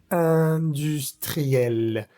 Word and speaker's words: industriel: producción la vocal producción industriel industriel. La in es vocal nasal y se dice a la in como sonriendo.